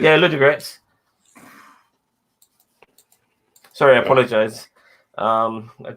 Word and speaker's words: Ludogorets: Braga won against Ludo Goretz. Is that how you pronounce that name? Yeah, Ludogorets.